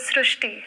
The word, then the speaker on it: Srushti: So in Marathi, the word re is pronounced as ru. So that is why the pronunciation goes Srushti.